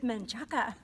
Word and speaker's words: Menchaca: It's Menchaca.